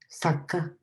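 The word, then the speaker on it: 作家: And this is pronounced with a glottal stop. So sakka is author.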